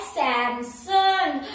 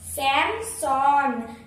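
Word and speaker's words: Samsung: सब अलग है भाई, ये जो करेक्ट प्रोनाउंसिएशन है मैं बताती हूँ। तो ये जो है इसकी प्रोनाउंसिएशन है सैमसंग, सैमसंग, सैमसॉन, देख लीजिए यहाँ पे लिखा हुआ स्पेलिंग, और क्या है ये सैमसॉन, सैमसॉन, सैमसॉन, तो सैमसॉन। अब से आप प्रोनाउंस करेंगे सैमसॉन, मैं सैमसॉन कंपनी में जा रही हूँ, समझ आ गया सैमसॉन।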